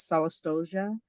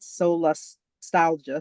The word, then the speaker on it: solastalgia: concept to differentiate is solia um and I'm probably mispronouncing that solastalgia sorry that's okay hard